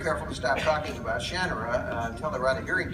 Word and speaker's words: Shannara: I said, you know, it's Shannon phonics. You divide the shara that nobody pronounced it that way. Everybody says Shinara. And when I went to the studios for the first time to talk about uh the names, they're all pronouncing it Shannara. And I said, "Wait a minute. Wait a minute. That's not how you pronounce it. It's Shanner."